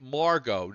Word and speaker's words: Margot: so they're calling it Margot no t all right I stand corrected no T it's Margo one nice thing about